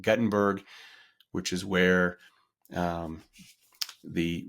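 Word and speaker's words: Guttenberg: be basically going through Gutenberg I would pronounce it Gutenberg but I think in Iowa they call it Gutenberg which is where um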